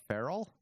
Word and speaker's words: feral: the 20th century and when you say fear all you mean feral yeah I pronounced it